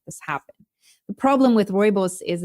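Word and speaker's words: rooibos: so so how do you say that it's royos okay and it's actually known in the states I think you can buy it as red bush tea yes or Robos tea so I'm South African and South Africans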